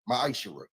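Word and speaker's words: מעשר: You can find this in the book of numbers 18 21 in the book of Malachi 3 8-10 means 10th in Hebrew and it's pronounced maishara 10% of every penny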